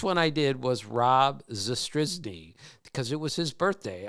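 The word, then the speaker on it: Zastryzny: of my favorite pitchers ever is named Rob zrz it's spelled z s t r y zny I'll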